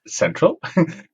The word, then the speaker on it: Xentral: co-coo of central it's spelled with an X but actually it's called Central I've been told um and um who